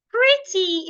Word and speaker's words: pretty: stress the first syllable for example pretty pretty is a two syllable word and it's an adjective so I'm going to stress the first part pre pretty not pretty pretty another example is woman